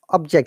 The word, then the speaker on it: object: So object, similarly, object and object. Object. Uh-huh. Object. Yes, up to down, again down to up.